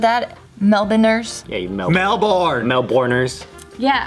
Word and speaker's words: Melbourne: meat did you hear how she said that melbourne nurse yeah melbourne melbourners yeah i learned that's